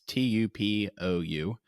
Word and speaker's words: Tupou: Tupu is how you say it, I think. It's Tupou.